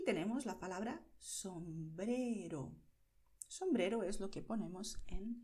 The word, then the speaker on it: sombrero: Y aquí ves que la R se pronuncia con la punta de la lengua sin expulsar el aire, sin vibrar, ¿vale? No hay aire y no hay vibración. Sombrero. Es solo la punta de la lengua tocando los dientes.